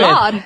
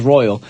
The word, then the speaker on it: Lorde: I was going to say her name was Royal. Lorde with A I World always Alone. get that mixed up, actually. I'm like, is it Royal or... I did that one time when I wasn't sure who the artist was. I was like, one time I was like, next up we got Royal with Lorde. I said it wrong.